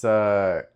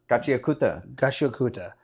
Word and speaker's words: Gachiakuta: Gachiakuta, right? Am I saying it right? The anime? No, it's Gachiakuta. Gachiakuta.